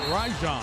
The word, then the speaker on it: Rajon: you may have heard me and i say rajon rondo you've heard rajon rondo a lot but the correct pronunciation we asked from last night is rajon i like roi gonna go the other way